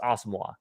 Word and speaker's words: Asamoah: He did say it is pronounced Asamoah.